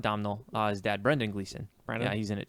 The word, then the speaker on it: Brendan Gleeson: His dad, Brendan Gleeson.